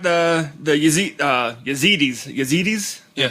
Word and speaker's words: Yazidis: my you got the the ya uh yazidis yazidis I'm pronouncing it right yes where I did some